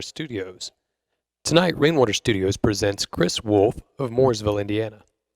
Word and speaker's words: Chris Wolf: Tonight, Rainwater Studios presents Chris Wolf of Mooresville, Indiana. He spells his name with a CH, but pronounces it with a K.